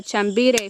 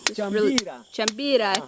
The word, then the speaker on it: chambira: This is a chambire fruit, and it's found on a chambire tree. Chambira tree. The Apu is telling me the correct pronunciation.